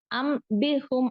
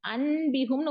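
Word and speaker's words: أَنْبِئْهُمْ: இந்த நூன் இருக்கு இல்லைங்களா இந்த நூனை நம்ம என்ன பண்ணுவோம் அப்படின்னா நூனா உச்சரிக்க மாட்டோம் உச்சரிக்காம வந்து என்ன பண்ணுவோம் மீமோட உச்சரிப்பை கொடுப்போம் அம்பிகும் அப்படித்தான நம்ம ஓதுவோம் இல்லையா பாலையா ஆதமு அம்பி அஸ்மா இஹிம் அப்படித்தான் ஓதுவோம் அப்ப அந்த நூனோட என்ன பண்றோம் அப்படின்னா மீமா நம்ம மாற்றி ஓதுகிறோம் அம் அன்பிகும்னு ஓதல அம்பிகும் அப்படின்னு இந்த இடத்துல பாருங்க அப்படித்தான ஓதுறோம்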